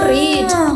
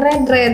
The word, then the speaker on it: read: Verb 1 itu read, 2 dan 3-nya read.